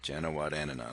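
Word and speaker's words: Janewattananond: It's 6 syllables, that last name, so you could say, if you break it up, it's Janawat, and then and on. Janawatananan.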